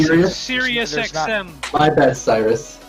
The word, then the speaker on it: Cyrus: i saying you're saying seriously you're saying sirius xm my bad cyrus it's not serious it's cyrus oh there you go